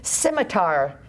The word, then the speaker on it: scimitar: Scimitar has that hard R at the end.